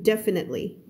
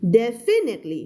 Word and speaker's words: definitely: definitely Can't คำ นี้ ไม่ อ่าน ว่า definitely ถ้า ไม่ มี อ่าน ว่า definite definite ก็ ได้ แล้ว แต่ but เวลา อ่าน ี่ เข้า ไป ก็ คือ definitely stress คำ แรก ตรง นี้ นะ จ๊ะ ไม่ อ่าน definitely ไม่ เอา definitely ก็ ไม่ เอา definitely